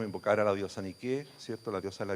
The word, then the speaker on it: Nike: Nike es la misma diosa que Nike la transformó en su marca, ¿eh? Pero en griego es con acento en la E.